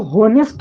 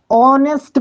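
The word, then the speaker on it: honest: इसको तो होनेस्ट मत पढ़ना तुम लोग, नहीं तो बुड़बक बन जाओगे तुम लोग। ऑनेस्ट पढ़ना है इसको, क्या कि एच क्या रहता है? साइलेंट रहता है, सिंपल।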